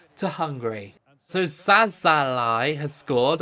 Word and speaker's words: Szalai: n to Hungary so sazal has scored I think it's szalai isn't it not saz like I've been saying I'm really like I